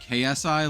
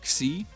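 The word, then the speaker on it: Xi: It's spelled X I, but it's like it's pronounced like KSI, like C.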